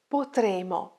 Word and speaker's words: potremo: Focus on the pronunciation. Potremmo, potremmo. And the future is potremo, potremo, potremmo, potremo. Mind your double consonants.